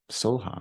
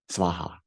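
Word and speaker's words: svāhā: And I was like, "Yeah, my guru taught me the mantra, Om Chule Chule Soha, or something, Svaha."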